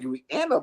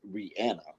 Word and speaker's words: Rihanna: deserves it that's like Reanna money that's like Beyonce money no no no no no no no not at all so that's Ranna Taylor Swift um who is that it's pronounced Rihanna she said it but